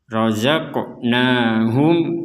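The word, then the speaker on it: رزقناهم: Razaqnahum yunfikun. Di sini huruf mim bertanda sukun, kemudian ada huruf ya, maka ini dibacanya jelas, jangan dibaca dengung. Kalau dibaca dengung, wa mimma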